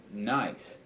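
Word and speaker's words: gneiss: granite another metamorphic rock is called nice it's spelled gne but it's called nice it was previously granite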